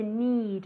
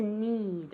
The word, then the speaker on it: need: To need. Otra vez con esa I larga, ¿ok? To need.